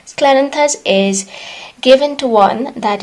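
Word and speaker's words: Scleranthus: and sorry it is clarence i i always mispronounce it is sclerenthus sclerenthus is given to one that is kind of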